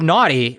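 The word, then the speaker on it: gnawty: Uh the word the word naughty that I just read out loud is spelled although it's lowercased. It's not it's not capitalized like a proper noun. It is spelled G N A W T Y.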